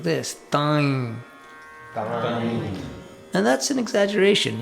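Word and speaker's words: tāīn: But sometimes you're not supposed to pronounce the N, you're supposed to nasalize the N. So without a nasalization, this would sound like Thai.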